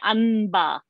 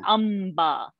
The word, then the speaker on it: amba: We don't say anba. We say amba. We don't say umba. Ba, pa, pa, ba, ba, ma. Yeah. So amba only.